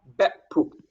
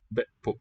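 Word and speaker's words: be'pu': Be pu with the same suffix. Betpu. So two syllables, both ending in glottal stop. Load. Lordpu. Betpu. Be pu, keeping the vowel short.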